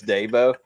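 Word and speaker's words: Dabo: he didn't like me pronouncing his name davo it's Deo Deo um Deo Sweeny and he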